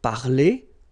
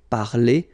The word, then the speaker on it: parler: So infinitive parler. So if you remember, we saw that previously. So I mean, this combination of two letters at the end of the words normally gives the sound e. Okay, parler, and then past participle, participe passé, parler.